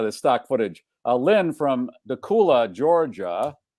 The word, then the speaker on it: Dacula: Lynn from Dacula, Georgia. Is it Dacula or Dacula? I think Dacula rhymes with Dracula. Yes, it does. That certainly does. But I don't know if that's how it's pronounced.